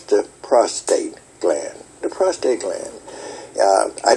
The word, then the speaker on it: prostate: Angels don't have prostates. They have prostrate, meaning falling out in front of God and things like this. And so, just to get that pronunciation, Moms Maverly brought that out about a prostate and what it's all about.